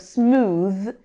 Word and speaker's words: smooth: The th at the end of smooth is a voiced sound like this and brother. Like the th in this and in brother.